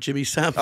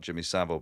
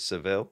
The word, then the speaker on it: Jimmy Savile: he kept talking about Jimmy Savile, but he just kept pronouncing it Seville. Really, yeah, yeah. Like, he's not an old vaudeville fucking act. Yeah, Jimmy Seville.